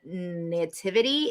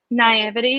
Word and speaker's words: naivety: little bit of that, what is it, the nativity? Is that how you pronounce it? Naivety.